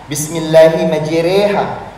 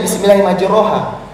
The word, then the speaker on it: Bismillahi majreha: baca doa ini tapi banyak yang masih salah ucap dalam pengucapannya seperti doa saat kita naik kendaraan Bismillahi majreha ada yang bacanya bismillahirohha di sini memang perlu